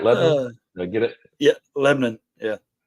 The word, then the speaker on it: Lebanon: How they're pronounced. Is that right? Lebanon?